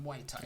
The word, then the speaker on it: Muay Thai: Today let's focus not on rugby but on Muay Thai. Yeah. Maurice, introduce us. What is Muay Thai? Let's start there. Okay.